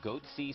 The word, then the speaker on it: Goatse: goatee picture they're called goatse security is that my pronouncing that correctly yeah that's right we're analyzing coverage from